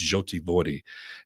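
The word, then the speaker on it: Жовті Води: our base of operation, which is pronounced, it's translated yellow water, but it's Zhoty Vody.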